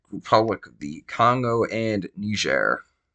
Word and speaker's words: Niger: That last one last two are Democratic Republic of the Congo and Niger. Yes, that's how you actually pronounce that. Now, you think it is it's Niger.